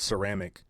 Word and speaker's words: ceramic: The word ceramic comes through French. That's the reason for the soft C at the beginning.